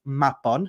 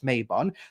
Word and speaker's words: Mabon: are using the word Mabon, but I do find it disrespectful that they're arguing with Welsh people who tell them, hey, that's not how it's pronounced. It's pronounced Mabon, not Mabon.